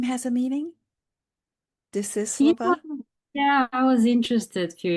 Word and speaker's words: Desislava: Desislava. Yes, pronunciation is Desislava in our country, but Okay. you read it correctly. Desislava. The accent is on the Desislava Yeah.